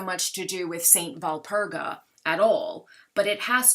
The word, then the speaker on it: Walpurga: April 30th is known as the eve of the feast day of Saint Walpurga. The W is V pronounced in German. And so because it's the eve of Saint Walpurga, her feast day being